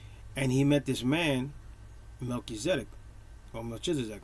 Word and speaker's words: Melchizedek: where Abraham, right, meets a mysterious figure called Melchizedek. Some people say Melchizedek, right? Or Melchizedek.